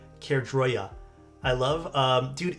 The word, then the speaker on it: Caerdroia: The Kroy I still suck at pronouncing this comic, but I think it's the Kroya.